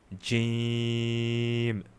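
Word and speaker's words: ج: Now gee comes by this middle part of your tongue touching the top middle part of your mouth inside your mouth cavity. Right? So jam. So this part need to touch this part.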